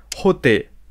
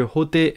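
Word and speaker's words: Hotei: au Japon boudaï devient roter à ne pas confondre avec un fameux guitariste roter c'est la prononciation sino-japonaise des caractères de boudaï oh qui veut dire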